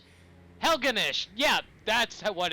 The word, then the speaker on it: Helgenish: gee that's uh not fantasy at all Master helenish helgenish yeah that's what it's pronounced yeah you were right whatever are you